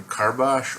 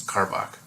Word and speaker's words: Karbach: say this work correctly it's either car Bosch or car bak its car bak it is from the